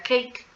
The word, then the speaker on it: cake: español pero en inglés recordemos que las palabras con dos sílabas y una e final muda la a se como e y se pronuncia cake entonces aquí está cake